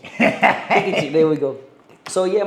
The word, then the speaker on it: Pikachu: No, Pikachu. Pikachu.